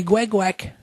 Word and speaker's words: Guac: Moi, c'est Guac. Ouais. Il faut bien le prononcer. Hein. Guac.